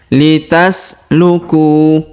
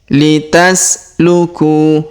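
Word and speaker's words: لتسلكوا: Litasluku. Litasluku. Huruf ku kita panjangkan 2 harokat karena waw sukun di depannya.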